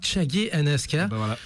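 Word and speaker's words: Chage and Aska: Je pense que tous les anim fans connaissent de alors il paraît que c'est Chagi and Aska. Alors ça se prononce bel et bien Chagi and Aska.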